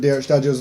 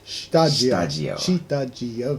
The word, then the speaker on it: Shtajio: Hey everyone, back for another episode of Shtajio's vlog. Arthell, Isom. Once again, the pronunciation is Shtajio.